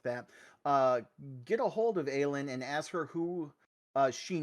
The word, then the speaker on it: Aylin: So with all So that being Aylin, said, Aylin is how I say it. Aylin. Aylin. Okay. L-I-N is the phonetic pronunciation.